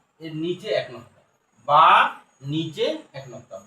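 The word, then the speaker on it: باء: বা নিচে এক নক্তা।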